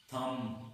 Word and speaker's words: thumb: यहाँ पे लिखा हुआ है THUMB, थम, इसको थम नहीं पढ़ेंगे, इसको थम पढ़ेंगे, M पे इसको प्रोनाउंसिएशन खत्म कर देनी है।